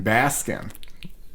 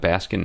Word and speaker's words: Baskin: ever figur that out I assume it's Baskin like Basin Robins not enough ice cream